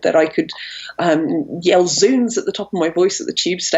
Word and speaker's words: zounds: put in um but there is this tendency to pronounce zoons as Zounds because that original link with the idea that you are blaspheming on God's wounds from the crucifix has lost its power and its meaning there